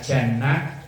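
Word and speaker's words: جَنَّة: Beda huruf depannya, bacanya artinya beda. Kalau dibaca jinnah itu artinya jin. Minal jinnati wan nas, bangsa jin. Kalau dibaca jannah surga, kalau junnah benteng.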